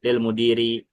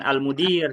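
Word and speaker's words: للمدير: Lil mudiri. Nah, ini bacanya bukan almudir ya, tapi lil mudiri. Ada dua kata li sama almudir. Kalau alifnya ke mana? Almudir kan pakai alif. Nah, itu dibuang. Alifnya dibuang lil muhandisi demikian juga.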